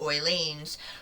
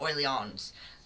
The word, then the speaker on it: Orleans: And she's the wife of the king's brother, Duke Philippe, Duke of Orleans, and he's the younger and only brother. You don't need to pronounce the S either.